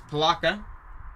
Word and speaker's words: Palatka: Just wanted to double check I was pronouncing that right there. It says Palatka.